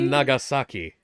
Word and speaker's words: Nagasaki: Nagasaki? Is that how it's pronounced, or is that... Nagasaki? Because I thought it was pronounced Nagasaki? Nagasaki. That's how it's supposed to be pronounced.